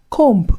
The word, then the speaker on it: comb: Dear students, do not pronounce these common English words as bomb, womb, comb, or climb. This is because the B are absolutely silent.